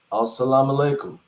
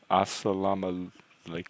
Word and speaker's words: As-salamu alaikum: Oh, As-salamu alaikum.